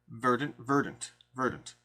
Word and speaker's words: Verdant: I've been saying Verdant the whole time, but I think it's Verdant. I keep getting corrected. But that's going to be an upcoming Kickstarter. Accent is on the first syllable.